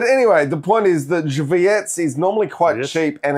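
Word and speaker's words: Żywiec: Uh Zywiec. Zywiec. That's how you pronounce it.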